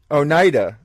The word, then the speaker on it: Oneida: the on your Twitter it says I'm a pronounces very own own 800 night now Oneida and that's a a certain Native American yeah